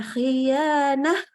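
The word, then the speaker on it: خيانة: Jadi ketika dia kasroh, bacanya naikkan pangkal lidah tapi tetap terbuka. Gimana? Khi, ri, ri. Ya biasa aja ri. Tidak jadi khoi, oi. Nah, ini nggak boleh nih, ya. Jadi harusnya khiyanah, naik aja pangkal lidahnya.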